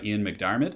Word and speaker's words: McDiarmid: I think he would be played by Ian McDiarmid, I believe is how you say his name.